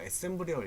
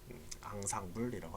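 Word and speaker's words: ensemble: 이렇게 합치시면 이것도 이렇게 스펠링 이렇게 되는 거 애셈블이라고 읽으시면 안 됩니다. 앙상블이라고 합니다. 우리 음악에서 앙상블 여러 개 섞인 걸 앙상블이라고 하죠.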